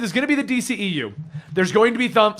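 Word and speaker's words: DCEU: ECU moniker oh yeah apparently we've been saying DCU this whole time yeah we've been saying it wrong apparently according to them well they were like no that DC EU yeah it doesn't really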